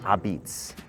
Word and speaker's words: apizza: But first, why is it pronounced Apizza? In Naples, Italy, La Pizza is shortened to Apizza in the local Neapolitan dialect.